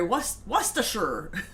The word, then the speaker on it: Worcestershire: Chris Friend says, that is the pronunciation from the dictionary. Worcestershire.